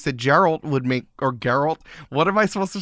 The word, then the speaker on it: Geralt: true I'm like well geralt isn't in the game so I guess it's not true he found a loophole it is geralt it is the correct